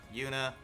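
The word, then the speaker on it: Juna: can see their names yoona yes it's pronounced you know with a y sound kurt musee ash altina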